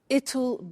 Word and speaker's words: it'll: I said tomorrow it'll be cold. You notice how it will becomes it'll. It'll. Strange pronunciation, yeah?